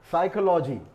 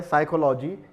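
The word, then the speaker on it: psychology: बोला नहीं जाता उनमें ये वर्ड साइकोलॉजी एक और वर्ड है साइकोलॉजी इसमें पी साइलेंट है साइकोलॉजी यानी मनोविज्ञान सॉल्टर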